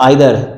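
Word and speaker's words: either: अच्छा, तो बात याद रखिएगा जरा कि ईच, ईदर, नीदर, ईदर और आइदर, both of देम pronunciation are correct, दोनों करेक्ट हैं।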